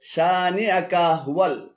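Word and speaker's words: شانئك هو: এখানে শানিয়া এবং কাহুয়াল উভয়টি ভুল উচ্চারণ। শুদ্ধ উচ্চারণ হবে শানিআকা হুয়াল, শানিআকা হুয়াল।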